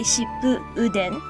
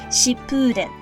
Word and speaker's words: Shippuden: When this happens, rather than breaking the syllables to say shippu uden, we join the syllables together and pronounce it more like an elongated sound, shippuden.